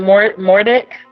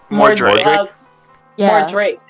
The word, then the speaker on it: Mordrake: Mordic. How do you, how do you say his name? More Drake. Like, would you like more Drake, please?